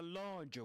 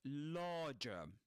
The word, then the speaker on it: larger: Beyond it was a larger one. So in the word larger, the first syllable in this word larger rhymes with car with the vowel sound in car and in farm.